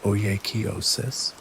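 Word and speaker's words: oikeiosis: The final section synthesizes these practices into a complete picture exploring the concept of oosis pronounced oiois, the process of appropriation and the practical conclusion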